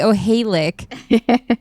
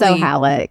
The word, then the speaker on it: O'Halek: Because I used to say O'Halek incorrectly. It is O'Halek. Yeah. It's O'Halek. Okay.